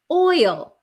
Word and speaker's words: oil: So, it's very similar to boy. Boy. So, the oi or the o y is a bo boy.